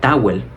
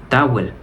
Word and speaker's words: towel: La L cuando está al final, debido a esta palatización, la L no suena. Es muy poco notoria, más bien se extiende la vocal anterior. Por eso esa palabra no sería towel. Towel, más bien se pronuncia towel.